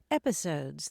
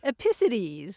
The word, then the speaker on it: episodes: finally figured out that she was mispronouncing episodes as episities opacities there we go you know putting the emphasis on the wrong syllable and a lot of